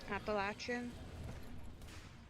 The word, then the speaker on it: Appalachian: Appalachin. It's pronounced Appalachin.